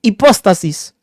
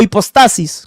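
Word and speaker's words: ὑπόστασις: Porque la palabra sustancia en griego es hipóstasis o hipostasis, como la pronuncie.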